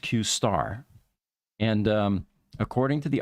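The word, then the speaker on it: Q*: later this one was dubbed Q pronounced qar and um according to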